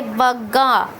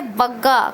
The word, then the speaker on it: बग्गा: अजय बग्गा। अजय बग्गा, कभी कभी हम बंगा भी पढ़ते हैं, लेकिन सही प्रोनाउंसिएशन है अजय बग्गा, अजय पाल सिंह बग्गा।